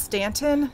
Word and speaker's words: Staunton: out to staunton virginia it's spelled staunton although people say it's pronounced stanton i'ma say staunton though and uh you